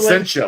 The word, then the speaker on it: Placentia: Placentia, right?